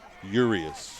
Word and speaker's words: Urias: I had an insurance agent, that was his name, and he pronounced it Urias, but I had a parent tell me at the game earlier in the season this is Urias.